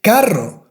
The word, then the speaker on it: carro: And if you have the double R, of course, all the time you have to pronounce the strong R.